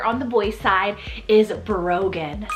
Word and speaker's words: Brogan: next up here on the boys side is Brogan spelled b-r-o-g-a-n Brogan this is one of those really cool